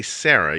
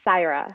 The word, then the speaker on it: Saira: You don't say Sarah. You say no. It's Saira.